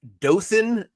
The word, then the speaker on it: Dothan: So our second uh dot to add to the map is Lucha and he would like the dot put in Dothan, Alabama.